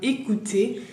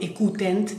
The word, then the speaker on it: écoutent: Bien, écouter. En este caso es écoute porque son ellos que no la escuchan. Entonces ENT, que ENT no la pronuncio. En final no digo écoutent, digo écoute. Bien.